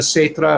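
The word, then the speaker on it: caetra: But wait, say it again, because Gaita, it's a C, and which in classic Latin, therefore, as we discussed before you came on board, is pronounced with a K.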